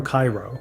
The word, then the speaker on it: Cairo: Cairo, pronounced Caro, sits at the very southern tip of Illinois where the Ohio and Mississippi rivers meet.